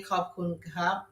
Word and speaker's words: ขอบคุณครับ: ขอบคุณครับ ขอบคุณครับ For guys say ขอบคุณครับ For girls say ขอบคุณค่ะ ขอบคุณค่ะ Yes. Guys say cup and women say ka.